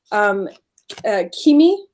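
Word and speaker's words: Cimi: And so like, for example, this card is talking about Kimi is how you pronounce it.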